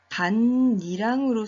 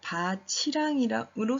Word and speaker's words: 밭이랑: 다시 잠시 설명해보면 반니랑의 경우는 우리가 두 가지 소리로 발음할 수 있는데요. 반니랑으로 소리 나기도 하고 바치랑이로 소리가 나기도 합니다. 이 두 가지로 소리가 나기도 하는데 이렇게 각각 두 가지로 소리가 날 때는 그 의미가 다른 말입니다. 의미가 달라집니다.